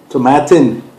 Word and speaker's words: Tomatin: Tomatin. It rhymes with satin.